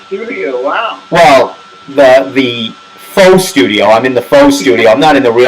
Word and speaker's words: faux: keeping track at home that's f-e-a-u-x the x is silent it looks like a